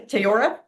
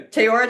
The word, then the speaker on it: Teyora: Um, this is, uh, Jonathan Gray with I'm pronouncing Teayora. Yeah. Teaora Technologies.